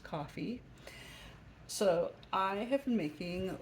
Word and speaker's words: Ko-fi: a website name um but it's K fi pronounced coffee so I have been making little I love